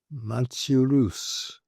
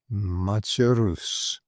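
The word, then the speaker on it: Machaerus: And this particular one is pronounced machus machus.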